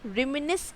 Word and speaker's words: reminisce: reminisce, आप जैसा देखिए प्रोनाउंसिएशन स्पेलिंग के जैसे नहीं हो रहा है।